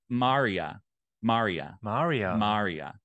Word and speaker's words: Mariah: with him she's like that is not how you say my name and I'm like okay around these parts around these parts but apparently it's pronounced announced Maria Maria and I was like